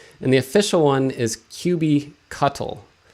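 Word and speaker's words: kubectl: the official one is qb cuttle like as in a cuttlefish some people say qb cuddle some people say cube cuddle like you're cuddling up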